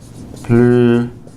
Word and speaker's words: plus: For example, elle parle plus rapidement que moi. This is with an adverb. She speaks more rapidly than I do. Notice the S is not pronounced here.